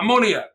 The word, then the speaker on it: ammoniac: Ammoniac. Oh, ammoniac. Like ammonia.